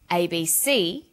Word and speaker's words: ABC: with a readon memory notice that each letter in the abbrevi ation is pronounced separately but the last letter is pronounced more strongly because it carries the primary stress so we say USA ASAP ABC and TV listen for another abbreviation